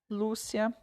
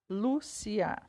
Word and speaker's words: Lúcia: por exemplo as palavras Lúcia férias e Paraíba né Lúcia Lúcia são duas sílabas então o look é a penúltima é mais forte a palavra férias o